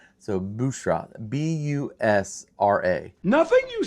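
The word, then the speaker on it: Büşra: It's Bushra. It's the U with the two dots over it, so it makes that U sound. So Bushra, B-U-S-R-A.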